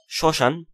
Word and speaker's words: শ্মশান: হ্যাঁ, তারপর কোন শব্দের প্রথম বর্ণে মফলা যুক্ত হলে মফলা অনুচ্চারিত থাকে এবং কিছুটা নাসিক্য রূপে উচ্চারিত হয়, যেমন শ্মশান স উপরে কিন্তু চন্দ্রবিন্দু